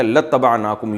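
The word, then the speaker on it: لاتبعناكم: असल में था इबाना तो हम इत्तबा करते तुम्हारी लाम ताकीद के लिए तो अलिफ साइलेंट हो गया। लतनाकुम यू पढ़ा जाता है इसको।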